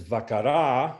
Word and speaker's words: vakara: Whereas vakara, vakara, the final A is held fully.